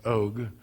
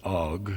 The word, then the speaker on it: Og: In the territory of King Og, king of Bashan, that's how Doug Hamp pronounces it, Og. The rest of us pronounce it Og. We're all wrong.